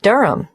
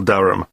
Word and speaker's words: Durham: how do you spell Durham d h a m of course I should know that but it's just one of those names that sounds quite different from the way you spell it it is confusing I've